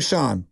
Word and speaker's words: Shan: That was Sean, not spelled S-H-A-N. It's Sean, S-H-A-N. Spelled like, you know, Shane without the E, but S-H-A-N.